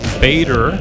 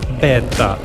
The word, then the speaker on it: Beta: recommended oil for the beta or of course beater you Americans or if you want to pronounce it in the true Italian way it is beta the manufacturer's oil recommendation